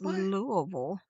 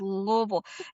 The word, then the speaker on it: Louisville: It's Louisville. If you do not pronounce it correct, people yell.